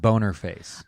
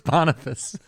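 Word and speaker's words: Boniface: attempt was from Pope bonface in the fifth century he moved the celebration to May 13th that's pronounced boner face okay yeah boner face so he I'm joking it's bonfice I just was joking no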